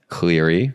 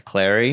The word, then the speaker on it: Clary: on my podcast and I mispronounced her name what'd you say Cleary that's Clary it's Clary that's a tough one though